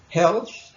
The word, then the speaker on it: health: Health, water, food, environment. Health, esta TH suena como una Z, health, water, food, environment.